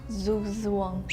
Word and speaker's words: Zugzwang: Can you pronounce this one for us? Zugzwang. Zugzwang.